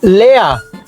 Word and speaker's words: leer: Lea. Se escribe leer, pero se dice lea.